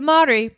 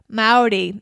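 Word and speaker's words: Māori: to Rotorua in the heart of New Zealand's Maori culture and the spiritual home of New Zealand's tangata whenua the original people of the land the madhuri pronounced kind of like Maori not Maori the way it's spelled ma Ori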